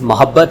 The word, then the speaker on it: محبت: غلط استعمال کرتے ہیں۔ دراصل یہ لفظ محبت ہے، یعنی میم کے اوپر زبر ہے، ہم پیش لگا کے پیش کرتے ہیں، ایک تو اس کی